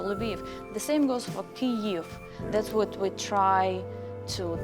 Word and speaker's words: Kyiv: The same goes for Kyiv. That's what we try to tell all around the world to people, to pronounce correctly how it's supposed to be.